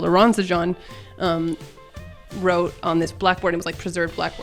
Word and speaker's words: Aronszajn: blackboard what we called Aronzan um wrote on this blackboard. It was like preserved blackboard. So I've written on the on the blackboard that Aaronshine and it's actually pronounced Aaronshine.